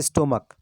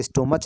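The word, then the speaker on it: stomach: जैसे स्टोमक, इसे स्टोमच नहीं बोला जाता है, स्टोमक बोला जाता है, तो स्टोमक्स हो जाएगा।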